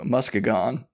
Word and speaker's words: Muskegon: 1920 and moved to how do you pronounce it earlier Tom Muskegon Muskegon people pronounce it yeah Michigan people pronounce it Muskegon but I appreciate your creativity so William Wallace he moved to Muskegon like her writing some